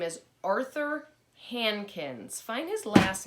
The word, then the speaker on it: Hankins: And the boy in the story's name is Arthur Hankins. Find his last name on page 3. Hankins. And that's the one, H-A-N, Han, K-I-N-S, Kins.